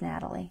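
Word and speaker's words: Nathalie: know y'all know na Natalie it's spelled n a t h a l i e but I think it's Natalie is how she says it so this is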